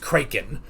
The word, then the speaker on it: Kraken: talking about it's like I've always heard it pronounced Kraken, and it's just like that's not how it is. It's just like it's closer to the original Dutch or something.